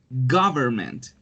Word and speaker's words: government: And that one, government, no es gu, government, all right?